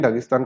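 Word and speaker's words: Dagestan: ना land of mountain दगिस्तान को अगर आप प्रोनाउंस करेंगे तो इस तरह से होगा इसे प्रोविंस ऑफ द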